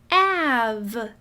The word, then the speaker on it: have: Again, I see a magic E, but it isn't doing its job because there's no long A sound. Av. It's still making a short A sound. That's quite tricky. It must be a trap word.